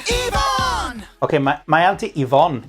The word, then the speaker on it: Yvonne: Yvonne. Okay, Okay, my auntie Yvonne is back. Now I know how to pronounce her name.